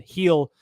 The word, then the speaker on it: Gil: You got a treat there with Glass now and Heel on the mound. I did say Luis Heel's name right? Correct? Yes. It's right. I know it's not Gil because that's disrespectful to the Spanish people.